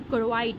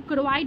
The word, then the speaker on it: choroid: Uvea क्या होता है, यूविया जो होता है इट इज सीरियली बॉडीज और क्रोइड, यहाँ स्पेलिंग मिस्टेक है, CHOROID, जो क्रोइड होता है, ये तीनों को मिला के हम बोलते हैं यूविया, ठीक है।